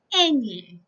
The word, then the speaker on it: ñ: So you pronounce this letter as this, ñ.